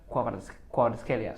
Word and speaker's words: Kvaratskhelia: It's like Picha Kvaratskhelia, something like I that. just always thought that the K was silent. Like, No. You say it, but it's like Quicha, like that.